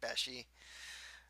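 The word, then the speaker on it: beshie: call each other Bessie I think it was a bestie but they pronounce it beshi Sasha asks the team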